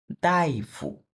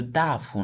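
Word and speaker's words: 大夫: ইউ মানে দ্বারা, Wang দাইফু, এটা কিন্তু দাফু না, দাইফু, একই ক্যারেক্টার, দুইটা ভিন্ন উচ্চারণ।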